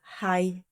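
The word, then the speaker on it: חי: O número 18 em hebraico significa estar vivo e se pronuncia hai.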